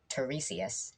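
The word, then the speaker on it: Tiresias: this blind prophet guy his name is i think teresius is how you pronounce it but but it's spelled tire science so that's a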